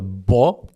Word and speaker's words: 보: So you think it sounds like 보, but then when you actually hear the Korean syllable 보, it sounds more like PWO, one step further down the road.